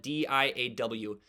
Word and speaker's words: Diaw: And uh despite being spelled d i a w, it is pronounced Diaw.